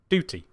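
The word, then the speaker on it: doughty: Duty as in like uh ug from through. So d o u g h t y duty.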